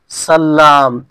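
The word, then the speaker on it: سلّام: একই পার্থক্য নেই তো উচ্চারণে পার্থক্য হচ্ছে একটা হচ্ছে সালাম একটা হচ্ছে সাল্লাম এই প্রকারটা জানা লাভ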